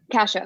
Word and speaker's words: Cassia: I said Cassia. Yes. How did you say it? Cassia.